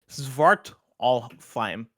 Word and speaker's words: Svartalfheim: Kebabs writes in and says, Svartalfheim in AC Valhalla's Dawn of Ragnarok DLC is pronounced Svartalfheim.